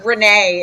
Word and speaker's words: Renée: and uh you referenced renee it rhymes with my sexuality so i'm like gabriel